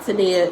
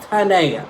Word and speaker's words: Tanaya: his name messed up is not samia is tanaya it happens all the time but um what are